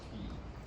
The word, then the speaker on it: Cay: The other question was, can you talk about the pronunciation of K versus Key? You want to take that? No. If you're Bahamian, it's always key.